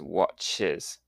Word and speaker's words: watches: Now, the pronunciation, the plural is pronounced with an extra syllable, so the box becomes boxes, and bus becomes buses, and watch becomes watches.